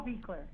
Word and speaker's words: Buechler: And, of course, John Carl, how do you pronounce his last name? Buechler? John Carl Buechler.